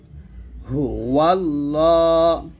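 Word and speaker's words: هُوَ اللَّهُ: বিসমিল্লাহির রাহমানির রাহিম হুয়াল্লাহুল হুয়াল্লাহ হা পেশ হু এই লামকে ধরে ফেলবেন হুয়াল্লাহ দেখুন এখানে লা বলা যাবে না ল বলতে হবে এখানে সুন্দর করে ল লেখা আছে একসাথে পড়ি তিনটা শব্দ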